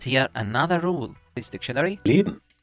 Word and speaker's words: Leben: Leben. Not only he tries to omit the letter A, but also N makes it M. Here we extend this letter A, but here we try to omit it.